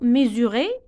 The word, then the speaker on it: mesurer: Ni yaqiso, mesurer. S. Donc, on a deux voyelles. E, U. Donc, S entre deux voyelles, ça se prononce Z.